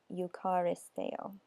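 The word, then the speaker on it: εὐχαριστέω: I don't know if I'm pronouncing that correct, but it's Strong's number 2168, and it's pronounced something like eucharisteo.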